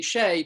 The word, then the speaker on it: Shay: shea in the book s-h-a-y would be shae to rhyme with trey rather than shy yeah